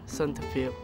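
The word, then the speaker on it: សន្តិភាព: It is pronounced Santafil.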